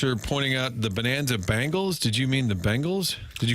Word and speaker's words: Bengals: Bingles. No one says Bingles. There's not a soul out there that says Bingles.